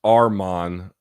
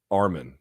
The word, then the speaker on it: Arman: It's pronounced Arman, not Arman.